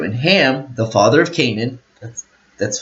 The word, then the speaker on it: Canaan: And Ham, the father of Canaan, that's how it's said, saw the nakedness of his father and told his brethren without.